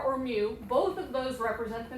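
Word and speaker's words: μ: Both of these symbols here, the first one we pronounce X bar, and the second one is mu.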